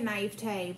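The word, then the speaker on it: naïveté: You'd say naivete, but yeah, same okay thing.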